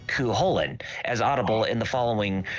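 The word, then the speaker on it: Cú Chulainn: Cuchulainn is technically mispronounced in the series, being closer to Cuchulainn, as audible in the following reading from Irish Myths by Ronnie Drew via YouTube.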